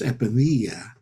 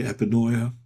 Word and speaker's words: epinoia: Well, I would pronounce it luminous epinoea, but I Mm. take it you would say epinoia.